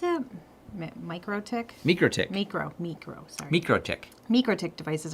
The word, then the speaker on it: MikroTik: How do you pronounce it? MikroTik?